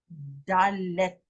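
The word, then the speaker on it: דלת: Okay, then we go to number Dalet.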